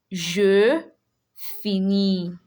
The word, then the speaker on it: je finis: You are not going to pronounce the S at the end.